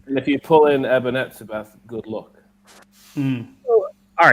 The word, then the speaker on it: Eben Etzebeth: Eben Etzebeth.